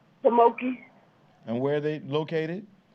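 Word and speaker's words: Pamunkey: Pamoki. And where are they located? Virginia. Okay. How do you spell that name?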